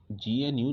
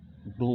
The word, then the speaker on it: GNU: पहले तो इसको GNU नहीं, प्रोनाउंसिएशन इसका GNU नहीं होगा, प्रोनाउंसिएशन जो होगा इसको ग्नू होगा।